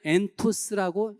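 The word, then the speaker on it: ἐντός: 원어에는 엔토스라고 읽습니다.이 의미는 두 가지 뜻이 있어요.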